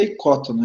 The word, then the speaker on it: ecótono: usa muito na ecologia é ecótono tá a pronúncia certa ecótono ele vem do grego Olha que você tem